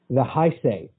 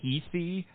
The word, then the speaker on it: Heisei: more recent era because now we're in the Heisei.